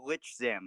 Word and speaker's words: Lichzim: Hi, I'm Lichzim. I'm not pronouncing like or lick or anything. It's Lich.